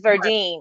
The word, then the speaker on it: Verdine: It's Verdine.